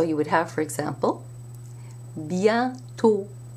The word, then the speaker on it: bientôt: However, if you put an accent circonflexe on an O, you must pronounce it as a closed O sound, not an open A sound. So you would have, for example, bientôt.